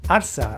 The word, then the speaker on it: arsa: Other times it's a familiar exclamation like arsa or ole the most iconic of all. Arsa seems to come from the Andalucian pronunciation of alpha from the verb ala meaning to lift or to raise.